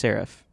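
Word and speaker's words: שרף: Um so Hebrew has two words pronounced serif.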